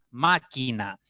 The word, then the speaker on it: máquina: Máquina, máquina, máquina. 3 sílabas y la mayor intensidad está en ma.